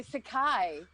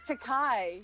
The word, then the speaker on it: Sakai: hard but if like when i ask you guys to pronounce sakai you know automatically like your face started to change like a japanese person because you don't say sakai please sakai you know it's like you say sakai you know like they